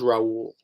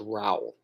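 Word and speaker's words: Raoul: Raul it's funny I keep thinking his name's Raul but it's actually pronounced Raul um no he was great um I I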